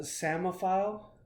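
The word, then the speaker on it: psammophile: lives in Sandy areas it's got a silent p in the front p s a m m o file yeah that's something that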